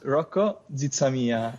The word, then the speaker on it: Rocco: me out there sure my name is rocco uh it's an italian name see i i knew